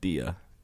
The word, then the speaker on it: dia: Sometimes Bom a dia. D. Bom dia. Gia. Yeah. Yeah. Yeah, like you're not gonna say like dia. Yeah, but it's a bit of like a G. Like gia. Bom dia.